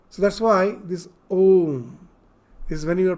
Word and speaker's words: Om: When you are pronouncing A, the tongue is not touching any part of your mouth. It is generated in the vocal cord. And when you pronounce U, A, U, Ma, these three constitutes the Om.